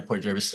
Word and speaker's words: Port Jervis: Yeah, Port Jervis.